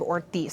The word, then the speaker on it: Ortiz: It's pronounced Representative Ortiz, Senator Kavanagh.